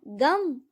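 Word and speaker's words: गं: गण के प्रथम शब्दांश ग का उच्चारण करने के बाद वर्णों के आदि अर्थात अ उच्चारण करें। उसके बाद अनुस्वार अर्थात म का उच्चारण करें। इसके बाद इसे अर्ध चंद्र से सुशोभित करें।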